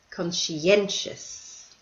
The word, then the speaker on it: conscientious: Persistent, bright, thorough, sensible, capable, spontaneous, conscientious. So notice in the last two words, these are multi-syllable words, and the stress is on the second last syllable.